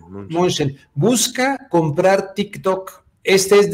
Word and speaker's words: Mnuchin: Y aquí está este hombre, exsecretario del Tesoro de Estados Unidos, Steve Mnuchin, ¿o cómo se pronuncia el apellido de este hombre? Sí, Mnuchin. Mnuchin.